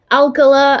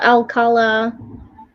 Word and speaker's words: Alcala: murderer rodney alcala yeah pronounced a couple of different ways alkala alcala there we go leo